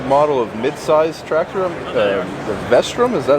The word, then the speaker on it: Vestrum: have a new model of mid-size tractor, the Vestrum. Is that how you say it? We do. It's the Vestrum.